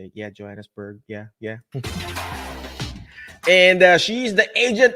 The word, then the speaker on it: Johannesburg: Yeah, Johannesburg.